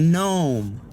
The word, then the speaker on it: NBOMe: And this trip story is about 25i gnome. I think that's how you say it, gnome. There's a silent B, because I'm not going to say nbome.